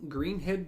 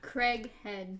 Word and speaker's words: Craighead: Jean Greenhead George? No, Jean Craighead George.